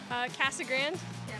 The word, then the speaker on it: Casa Grande: Casa Grande.